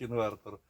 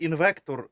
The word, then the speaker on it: інвертор: був Бейт на коменти Я знаю що правильно говорить інвертор але коли хтось говорить інвектор не надо на це агритись це діалект просто паністі